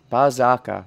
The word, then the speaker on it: Berserker: Bazaka, that's how they pronounce it.